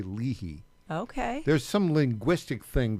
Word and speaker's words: Leahy: It's the Leahy Show, broadcasting live from downtown Nashville.